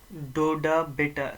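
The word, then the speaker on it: Doddabetta: नीलगिरी का हाइस्ट, नीलगिरी में जो हाइस्ट पीक है दैट इज DODUBHATA, डोडा बेटा, स्पेलिंग गलत होगी, फिर से मैं लिखता हूँ DODDA, डोडा BETTA, डोडा बेटा पीक, डोडा बेटा पीक।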